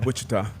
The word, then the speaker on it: Wichita: Yeah, like a little Spanish. The I, the first I, hard. Second I, pronounce that thing as an E. Accent. Yeah, Wichita, Kansas is not a bad spot.